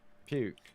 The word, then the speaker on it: Pouquet: Is it pronounced Pouquet or Puke? It's Puke.